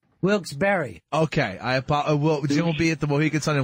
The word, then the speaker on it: Wilkes-Barre: __ ] hey boy it's pronounced wilkes-barre wilkes-barre okay I appear in